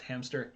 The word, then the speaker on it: hamster: As a child, I always pronounced hamster hamster. So I always think there's a P in there. There's not. Yeah.